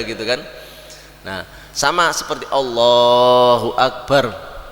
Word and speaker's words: Allahu Akbar: tadi Allahu Akbar Ya Allahu Akbar bar barnya itu bar gitu tidak boleh Allahu Akbar gitu ya itu artinya akan berbeda nah ini ee kalau